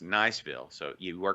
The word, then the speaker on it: Niceville: Is it Niceville or like the French pronunciation, Niceville? Like Nice, France. Don't ruin this, Josh. Don't ruin the moment. It's Niceville.